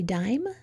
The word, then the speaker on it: dime: We're going to add a silent E. What's the new word? Tap it and say it. Did you say dime? If you did, that's right. What is our new syllable type called? Vowel, which is the I, consonant, which is the M, silent E, VCE for short, in the word dime.